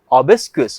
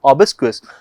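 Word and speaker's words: obsequious: जो word discuss करने वाले हैं दैट इज ओबस क्वेस वापस से बोलिए बेटा मेरे साथ में ओबस क्वेस अगर हम लोग ओबस क्स की स्पेलिंग की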